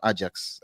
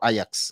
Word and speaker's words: Ajax: That's from Ajax, or Ajax, as some of you prefer to pronounce the name.